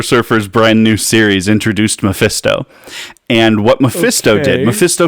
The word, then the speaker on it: Mephisto: I think you're hitting the wrong syllables. I think it's Mephisto. Mephisto.